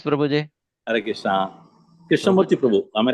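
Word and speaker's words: Prabhu: Pronounce. Prau. Harrishna. Krishna. Prahu. Am I right? Yes. Prahu.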